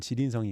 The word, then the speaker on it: 지린성: 여기가 랴오닝성, 그다음에 여기가 이제 길림성이라고 하는 지린성이 있고요.